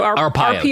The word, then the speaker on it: Arpaio: Joe Arpaio.